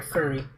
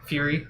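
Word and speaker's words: Furi: Fury or Furry? I know what you're thinking. It is pronounced Fury, but with an I.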